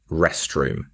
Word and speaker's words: restroom: For pronunciation, make sure to stress the first part. Rest room.